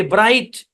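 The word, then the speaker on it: bright: ব্রাইট। ব্রাইট মানে কি? ব্রাইট মানে উজ্জ্বল। জি এইচ, ভাওয়ালের পরে যদি জি এইচ থাকে তাহলে জি এইচ সাইলেন্ট।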